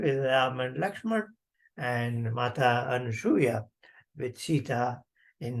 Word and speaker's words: अनसूया: हम अनुसूया बोलते हैं। अनुसूया नहीं है अनसूया है।